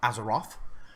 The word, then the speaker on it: Azeroth: thought in that moment a Kanaan it is pronounced as a Roth as a thought would be you having a